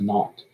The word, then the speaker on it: naught: at time zero so the zero is pronounced not then we have v